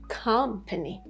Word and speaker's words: company: But for the third word, we have company, company. Because the stress is on the first syllable, you don't have the schwa sound on the first syllable.